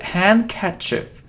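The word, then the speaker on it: handkerchief: it isn't hand kief it isn't hand kief no we don't pronounce d so hand cief hand catch and it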